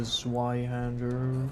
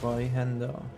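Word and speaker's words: Zweihänder: Give me the Zweihander. have a safe journey. As it's actually pronounced Zweihander.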